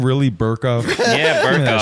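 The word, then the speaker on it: Berkoff: Is this guy's name really Burkoff? Yeah, Give me that Burkoff. shit. Give me the fucking... Your name are you allowed to have your name rhyme with jerk off?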